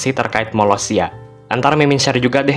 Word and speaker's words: Molossia: Kayak yang Mimin jelasin tadi, tuh cara bacanya Malaysia.